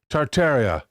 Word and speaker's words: Tartaria: Tartaria, originally pronounced Tartaria, without the first R, is the name of the pre-Mongolian Empire, that originated in northern Asia, before spanning the entire northern hemisphere.